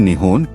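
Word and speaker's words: 日本: बात है काफी कुछ जापान जापानी में नि होन नाम सूर्य की उत्पत्ति की भूमि के लिए चीनी शब्द का एक यूरोपीय गलत उच्चारण है यह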